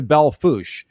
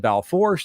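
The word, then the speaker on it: Belle Fourche: Hills go over to Bell foosh and that's not said Balfour's that said valve fat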